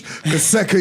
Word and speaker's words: Kaseka: No, but Kaseka said we've got to say his name with bass. Kaseka Ian.